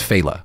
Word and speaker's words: Failla: technically be Sicilian and you pronounce it the way every anchor on Fox News pronounces it it's it's faala yeah yeah yeah but